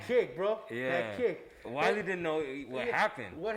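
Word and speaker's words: Weili: So the co-main event was Willie. Which I love. I put money on that one. So Willie Zhang, I think I pronounced that name. Yeah. Or is it Wiley? Yeah, Wiley. Yeah, Wiley Zhang, and then Rosie Namajunas.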